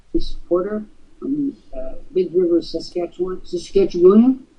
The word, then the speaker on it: Saskatchewan: Saskatchewan. Don't you dare pronounce that extra symbol at the end. That'll identify you as a foreigner.